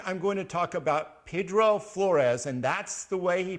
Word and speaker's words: Pedro Flores: so this week I'm going to talk about Pedro Flores and that's the way he pronounced it not Pedro and I think there are a few historical